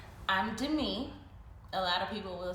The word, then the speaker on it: Demi: I'm Dei. A lot of people will say Demi.